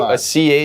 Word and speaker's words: Chabad: So Chabad. a CH is, you don't even pronounce the C, it's just Chabad.